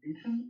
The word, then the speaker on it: Aachen: Far off lands of Aachen? A-H-C-H-E-N? Say again? How do I pronounce that area of service?